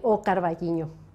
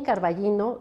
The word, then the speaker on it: O Carballiño: con la del ayuntamiento de o carballiño así se pronuncia en gallego o bien carvallino si lo dice en castellano y bueno pues aquí